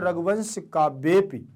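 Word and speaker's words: रघुवंशकाव्येऽपि: जैसे यहां पर आ लगा हुआ है, ये केवल जो बोलता है उसी को महसूस होना चाहिए इस आ का, सामने वाले को समझ में नहीं आना चाहिए कि आप आ का उच्चारण कर रहे हैं।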